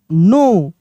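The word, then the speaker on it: know: के एन ओ डब्ल्यू नो बी O double R ओ डब्ल्यू बोरो डब्ल्यू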